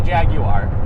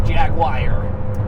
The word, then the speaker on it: Jaguar: I say Jaguar. Yeah, I know that Americans say Jaguar. Very nice. And I don't know where the IRE came into the Jaguar, because it should be Jaguar, but whatever.